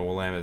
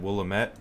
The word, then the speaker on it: Willamette: I remember I said Willamette, and everyone out there was like, no, that's not how you say it. It's Willamette. I'm like, okay, Willamette.